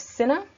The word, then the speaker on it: Cinna: confused with me Brutus above then we have Cinna medalists Cimber trebonius and KY ligarius and these